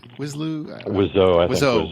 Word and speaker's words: Wiseau: And was directed by Tommy, I don't know, how do you pronounce it? Is it Wiseau? Wiseau, okay.